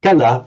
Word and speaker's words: kala: So um remember this word kala with a short a not to be confused with kala meaning time or time in duration.